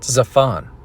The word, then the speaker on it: Zaphon: could add the reference to ba'al hop zafan pronounced zaphon the lord of the north referred to as